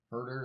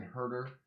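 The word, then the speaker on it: Huerter: anyway it's a Hawks and it would Kevin hurt her is that you say his name yeah Kevin hurt her what are you going to call this guy like klay Thompson jr.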